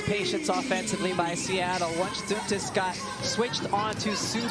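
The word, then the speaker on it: Dantas: And before we get everyone saying it's Duntus, we have Holly Rowe, who gets the pronunciations directly from the player. So yes, it's Duntus.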